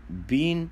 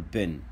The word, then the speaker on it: been: طب احنا قلنا been لها two pronunciation، you can say been or been both are right.